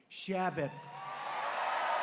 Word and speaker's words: Chabot: Congressman Steve Chabot. Great guy. Come up, Steve. Come up, Steve. You pronounced it right.